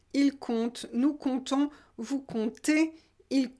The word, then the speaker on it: compte: c'est un verbe simple basique je compte tu comptes il compte nous comptons vous conter il coûte la chose intéressante dans cette prononciation et ça c'est important c'est qu'on ne